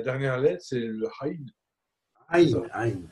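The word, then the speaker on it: ע: Aïn, pas Haïn, Aïn. Aïn. Pour dire Aïn, tu fais rouler la gorge, comme ça, regarde. Alors, Aleph, c'est A. Aïn. Aleph. Aïn.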